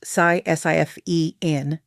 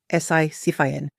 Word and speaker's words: Sisyphean: Pronounced Sisyphean, Sisyphean.